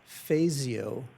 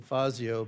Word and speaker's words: Fazio: referred to as the Fasio water, right? Um, it's not the traditional Italian pronunciation, Fazio, but it's named after Vic Fasio, former Democratic congressman.